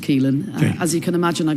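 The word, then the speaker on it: Caoilfhionn: Keelin. Keelin. Yes. Uh it's got rather a lot of letters. Yes. But it's just pronounced Keelin.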